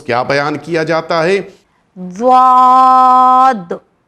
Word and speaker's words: ضاد: ضاد, ضاد. یہ واحد ایک ایسا لیٹر ہے جس کی مخرج سب سے الگ ہے. یہ زبان کے آخری حصے سے نکلتا ہے, زبان کے کنارے سے